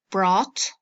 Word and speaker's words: brought: a you ght fermentation is same G is silent bring brought brought by bottle but